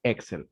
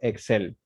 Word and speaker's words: Excel: Por lo tanto, si es que lo habla desde el inglés, la pronunciación correcta sería Excel, Microsoft Excel, ¿de acuerdo? Mientras que si lo pronuncia en español, por decirlo de algún modo, tendría que decirlo Excel.